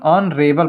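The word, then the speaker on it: honourable: यह भी हॉनरेबल लि लेकिन इसको पढ़ेंगे क्या Narel person ऑन रेबल person ये भी शुरू हो रहा है एन से तो इसके पहले भी न लगेगा और ये हवली विजिट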